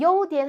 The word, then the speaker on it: 优点: 그래서 요디엔 하면은 우수한 점, 즉 장점입니다.